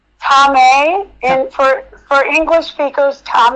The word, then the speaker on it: Thomai: And I was going to ask you how to pronounce your name. Tom in for for English speakers, Tom.